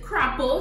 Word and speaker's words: crapaud: So it's crapo, smoke your pipe. What the hell? Crapo, smoke your pipe. It's like, it's kind of like a French word.